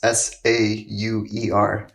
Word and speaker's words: Sauer: I'm on Instagram at.sauer, and my last name's spelled like sauerkraut. It's Sauer.